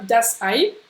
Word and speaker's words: Ei: Tu retiens EI, bien AI, ça se dit AI. Comme aïe, aïe, aïe, aïe, aïe.